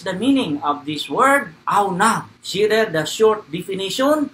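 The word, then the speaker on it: עָנָו: And here is the pronunciation, okay? Aunav, that's how it is pronounced, okay? The original word is there, this one. This is the transliteration, the pronunciation, aunav, in the Hebrew.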